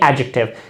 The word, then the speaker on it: adjective: यहाँ पर D silent है, आपको इसको क्या कहेंगे? एडजेक्टिव. इस तरह नहीं कि आप कहेंगे एडजेक्टिव, ये गलत है.